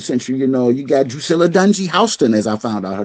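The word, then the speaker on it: Drusilla Dunjee Houston: the early 19th century, you know, you got Dusilla Dunie Hston, as I found out, her name is properly pronounced.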